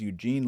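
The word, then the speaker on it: Яўген: Well, in Russian, it's Evgeny Bagashov, and in Belarusian, it's Eugen Bagashov.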